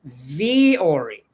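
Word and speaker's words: Vuori: Vu O R I, but pronounced Vori.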